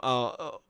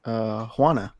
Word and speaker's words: Juana: Oh, that's my aunt, Juana. Juana. Yeah, Juana. Juana. I probably can't pronounce the J properly. If you say Juan, just add an A to it.